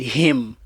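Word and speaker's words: heme: Him is a form of iron. Not H I M. I don't know how to spell it, but it's called him ion. That comes from animal animal protein. You thought I said him like h but you need you need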